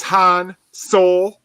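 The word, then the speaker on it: Han Seoul: ] what anybody says his name is han sol like seoul korea oh oh no in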